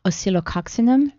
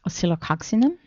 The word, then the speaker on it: Oscillococcinum: And along with the vitamin C, and how do you pronounce this again? Oscillococcinum.